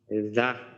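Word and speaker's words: ز: দাল জাল আল র যা সি এটা সারোয়ার ভাই যা উচ্চারণ করার সময় উচ্চারণটা এইভাবে যা এটা কিন্তু বাংলা ঝড় মতো না জা যা এইভাবে আচ্ছা ঠিক আছে যা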